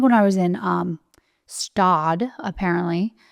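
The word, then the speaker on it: Gstaad: It's kind of like when I was in Stad, apparently. When I thought it was Gestad. So yeah. How do you spell it? It's Gstad, I think. Oh, okay. It's not Gestad.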